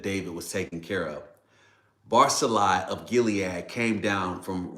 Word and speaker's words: Barzillai: Let me just say Barzillai. That's how it will be pronounced.